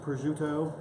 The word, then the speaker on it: prosciutto: I want to make sure I pronounce it correctly. It is prosciutto.